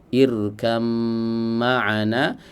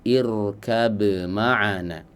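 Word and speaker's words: اركب معنا: Boleh membacanya dengan irkam ma'ana, boleh juga membacanya dengan irkab ma'ana. Ya, di idhar dan juga di idgham. Ya.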